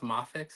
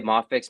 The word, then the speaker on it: Mafex: you pronounce it is it's not MX it's mafix I've heard people say mafex mayx so it's like I